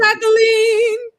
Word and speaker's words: Jacqueline: Jacqueline. You playing Jacqueline? No. It's the French pronunciation which is the correct pronunciation of my name but I say Jquelin.